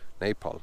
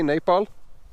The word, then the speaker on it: Nepal: Nepal. How do you say Nepal? Nepal. Nepal, you see. Everybody say Nepal.